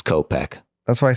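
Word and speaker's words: Kopech: name you said copek Michael copek yeah it's copek that's what I said okay but yeah you're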